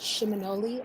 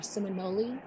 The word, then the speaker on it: Seminole: or Muskogee word, and it's pronounced Shimonoli or Seminole.